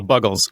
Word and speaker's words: Buggles: I know I'm saying it wrong, but I just always thought they were huge fans of the snack Bugles. Well, they weren't, because they're called the Buggles.